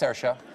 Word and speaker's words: Saoirse: That's Saoirse. Does anyone know how to pronounce that in the audience?